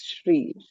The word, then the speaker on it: Sri: um yeah so yeah there is no h in the spelling but it is pronounced as shri whenever you know s is followed by r in general in names not in other words yeah it's called shri I should have listened to Katie.